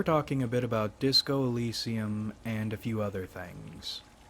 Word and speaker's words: Elysium: Today we're talking a bit about Disco Elysium and a few other things. The word is apparently pronounced Elysium, but I hate that pronunciation, so we're going with Elysium.